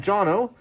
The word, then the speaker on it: Jono: It says, hi, Alex, I'm Jono, rhymes with Bono, Canadian guy who's been living in Australia for around 20 years.